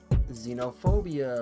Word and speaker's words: xenophobia: When people say xenophobia or xenophobic, that's also with an X, but sounds has the sounding of a Z sound.